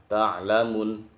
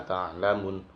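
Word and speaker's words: تَعْلَمُونَ: Kemudian kalla saufa ta'lamun, baca pendek, ta'lamun. Nah, itu enggak boleh. Yang sering terjadi seperti itu. Kalla saufa ta'lamun.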